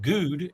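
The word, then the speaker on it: Gude: is a safety in Jacob good and that is spelled g-u-d-e which is very odd but okay I'll take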